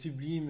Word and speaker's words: Subleem: et le tire justement et donc je tape sublime point com donc je suis voilà une autoroute